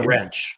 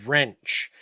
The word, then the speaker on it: wrench: in she's not a wrench I take it oh no um I would he said she's a nice girl oh you said wrench yeahor yeah the W is silent and the r is not yeah you know and